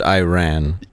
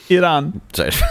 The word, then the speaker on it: Iran: off the mat like a basketball but it's pronounced Iran yes Iran Ariana Grande is Italian-American Italian so keep in